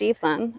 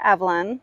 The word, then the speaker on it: Evelyn: I used to work for Crabtree and Evelyn, so I know that that's pronounced Evelyn, although some people may call her Evelyn, and that's okay too.